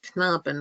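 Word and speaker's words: Knaben: rebecca will will endorse the k is usually pronounced as in the word like canaaben which is little boy in in german um so those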